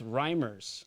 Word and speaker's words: Reimers: I don't know how to pronounce your last name. It's Reimers.